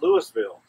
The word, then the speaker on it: Louisville: which is great it has an S in there but they don't use the S it's like a useless part well in Georgia we don't waste anything and so we pronounced this Louisville and uh great place